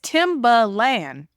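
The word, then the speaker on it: Timbaland: name except for the Land part yeah it's timber land it's t Google it it's t i m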